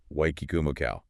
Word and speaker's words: Waikikamukau: genetics, and the honestly extreme farm management of Wy Kumako dairy. And uh yes, just for the record for you listening at home, that is actually pronounced white kumacow, which is just the best name ever.